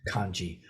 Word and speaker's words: kanji: characters uh and so in Mandarin itself this would be pronounced hanza something like hanza and in uh Japanese this is pronounce kanji but whether you're saying